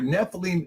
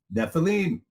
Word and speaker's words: Nephilim: There were Nephilim in the earth in those days, and also